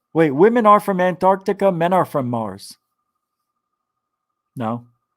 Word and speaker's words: Antarctica: The C is silent. I know. Antarctica. If you ever hear me say it, I say it that way. I can't help it.